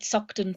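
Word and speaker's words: Saughton: party sort of uh so to speak outside suckton prison in Edinburgh at 10 A.M let me spell that for people uh doctor it's s-a-u-g-h-t-o-n so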